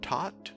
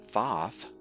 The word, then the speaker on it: Thoth: the transition into hermetics so taught or as some pronounce thoth was thought to be